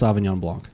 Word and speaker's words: sauvignon blanc: help you out here help me out it's pronounced sauvignon blanc ah that those are the words okay thank